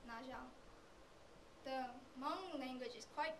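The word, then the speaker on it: Nyob zoo: For example, to say hello, it wouldn't be pronounced as Naibzu if you read it the English way. It's pronounced as Najang.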